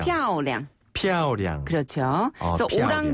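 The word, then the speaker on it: 漂亮: 피아오량. 피아오량. 피아오량. 그렇죠. 그래서 피아오량. 오랑 발음과 쩐 발음은 우리 청취자분께서 잘 기억하신 것 같아요. 네. 그리고 피아오는요. 위에서 아래로 뚝 떨어지는 음으로 피아오.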